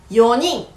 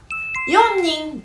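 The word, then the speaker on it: 四人: Ngoài ra, nếu có số 4 ở phía trước thì nó sẽ trở thành "よにん" hoặc "じゅうよにん" thay vì "よんにん".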